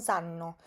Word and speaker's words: sanno: Fíjese usted con la pronunciación que yo no digo i bimbi non non sanno, sino non sanno, porque es muy importante en italiano pronunciar la doble consonante de una manera correcta. Esta A que está acá va a sonar un poco más larga porque tiene doble N.